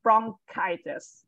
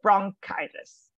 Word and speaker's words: bronchitis: So bronchitis. So one of the suffix inflammations is on itis, right? So the E letter in English pronounces I. So bronchitis. Yes, bronchitis.